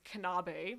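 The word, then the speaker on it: Knabe: manufacturing Factory and the brand of this piano is kanabi it's spelled K and a B e and this piano just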